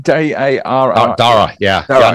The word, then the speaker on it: Dara: Dara, am I pronouncing that right? D-A-R-A.